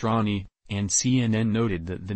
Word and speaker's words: Rani: on October 2nd the little one's name is pronounced Rani and CNN noted that the name honors her